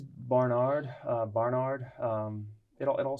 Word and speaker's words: Barnard: scottish way of saying it how do people pronounce it uh yes it's barnard uh barnard um it all sounds about the